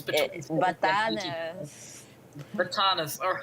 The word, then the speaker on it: Batanes: of the Batanes or Batangas or however I pronounce it, it's between Batanes. Batanes.